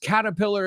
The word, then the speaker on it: Caterpillar: to Iron Man says caterpillar is the kind of tractor absolutely it's a famous Tractor Company too and he says and in Spain it's pronounced like Caterpillar marking the emphasis on the last syllable caterpillar is that how